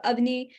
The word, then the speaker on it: Avani: So the way the phonetic spelling of that to help everyone is it's oven with an E at the end. So Avani, and then, it rhymes with high.